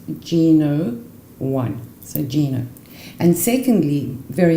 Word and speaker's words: GNo.1: so that when you put it together is pronounced Gino won a Gina and secondly very important this is